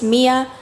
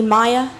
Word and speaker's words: Mia: But I hate mispronouncing people's names because my name is Mia, but everyone calls me Maya and it's kind of unfortunate.